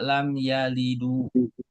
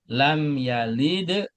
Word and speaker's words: lam yalid: Enggak boleh dibaca lam yalidu walam yuladu. Enggak boleh. Jadi lam yalid walam yulad.